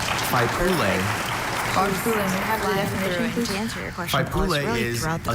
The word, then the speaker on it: Faipule: to a council that forms the central political structure of a Faipule, village, may I have the district, or definition, please?